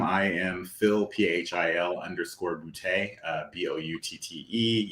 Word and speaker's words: Boutte: am Phil p-h-i-l underscore bootay uh b-o-u-t-t-e yes my last name is bootay if it's not funny you're not saying it right that's probably the easiest